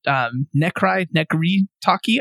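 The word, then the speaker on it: Necry Talkie: There's a band called Nekri Taki. I don't know how to say their name. Taki, like walkie-talkie for that second word. And the first one is Necry.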